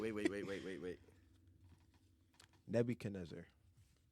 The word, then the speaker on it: Nebuchadnezzar: wait wait wait wait Nebuchadnezzar everyone not saying it right nebuch neb neb Nebuchadnezzar yeah Nebuchadnezzar Nebuchadnezzar that's how you say it yep I need to